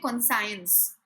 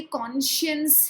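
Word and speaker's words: conscience: पहले तो ये सेकंड वर्ड को प्रोनाउंस कैसे करना है, मैं देखती हूँ काफ़ी लोग इसे प्रोनाउंस करते हैं कॉन्साइंस. ये कंसाइंस नहीं है, ये कॉन्शियंस है. इसको प्रोनाउंस करना है कॉन्शियंस.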